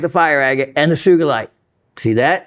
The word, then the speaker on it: sugilite: fire agate and the sugilite. See that? It's easy to slip up and say sugilite, but no, it's a hard G.